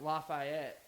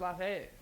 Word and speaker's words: Lafayette: I was like Lafayette, and she's like, "That's not how we call it down here."